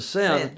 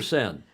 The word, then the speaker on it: Seine: Seine or Seine? It depends on who you are. Well, if you're a croutonic I think American, Seine. Seine, right? To try to pronounce things in France, in French, if possible.